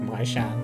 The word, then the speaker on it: Measham: When you said Measham is pronounced like my sham, and I was like, oh, okay.